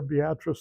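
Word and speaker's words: Beatrice: you happen to be near beatric Nebraska that's how it's pronounced go to the homestead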